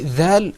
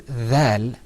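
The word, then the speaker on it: ذال: Well, when you're pronouncing dhal, the most important thing is to pull the corners of your mouth back. You're going to say dhal.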